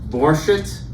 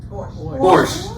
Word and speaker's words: Borscht: It's the Borscht. Borscht. German American, can't pronounce.